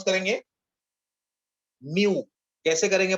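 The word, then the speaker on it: μ: Okay, कैसे pronounce करेंगे? म्यू. कैसे करेंगे प्रोनाउंस उसको? Mu.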